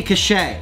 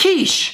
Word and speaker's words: quiche: what's this word cachet yeah I think it's pronounced Minnie cachet no you know what it's pronounced shish shish so I'm gonna do a quiche for today and it's just real real simple